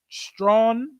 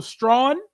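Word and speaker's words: Strachan: one thing Michael is it's pronounced stra here in the Bahamas how is it it's pronounced Michael stra is that what his name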